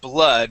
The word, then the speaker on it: blood: here with the word blood here you had said BL okay uh this word would be blood with a short u so let's try that